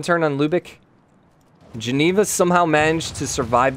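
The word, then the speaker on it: Lübeck: Oh, so just Lubik. So no lick. No extra U.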